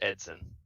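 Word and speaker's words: Eidson: don't feel bad that the I is silent so it's Edson Edson cool yeah is that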